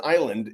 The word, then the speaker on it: island: becomes very confusing like the s in island is silent.